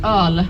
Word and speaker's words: öl: Or just öl, which is like the typical word for it. So everyone say it together? Öl. And it's spelled like, you know, this weird O letter with 2 dots.